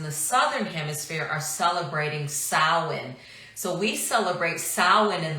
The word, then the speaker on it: Samhain: Global friends in the southern hemisphere are celebrating Salin so we celebrate Salin in the fall some people call it Samhain it's actually pronounce Salin so we reverse it so in the fall